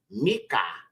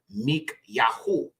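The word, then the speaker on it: מיכה: is simply means Dove then you have Mika okay or Micah in the English is what they call it but it would be mik yahu okay or mik and it means who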